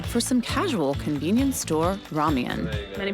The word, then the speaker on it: ramyeon: In Korea it's more ramyeon. So think of it with a Y in between the M and the EON. Well, we've got our ramyeon from a convenience store.